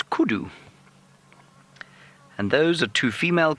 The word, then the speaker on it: kudu: c do and often in the local languages out here in South Africa and many parts of of the world U is pronounced o so it's kudu and those are two